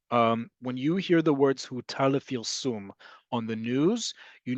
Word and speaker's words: הותר: What is put with vowel sounds here? Hutar lefilsum emesh.